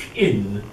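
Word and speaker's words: Qin: about so it's that little bre this is chin that's chin and to make things more complicated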